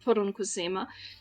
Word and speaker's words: poronkusema: This is a Finnish word that is pronounced poronkusema, and this is a distance, like kilometers or miles in Finnish, and it has Oh, to do okay.